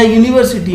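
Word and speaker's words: university: जैसे देखिए अम्ब्रेला में आ से स्टार्ट है, लेकिन बट यूनिवर्सिटी में देखिए आप, या यूनिवर्सिटी में जो वर्ड का प्रोनाउंसिएशन है वो या यज्ञ से शुरू है।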